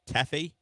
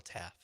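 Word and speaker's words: Taffe: the other guy Michael Taffy Michael Taff M he's got an e at the end should be Taffy but Michael Taff oh I'll I'll tell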